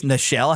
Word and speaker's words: Nichelle: But then that suddenly overshadowed when, oh no, Nichelle Nichols died at 89.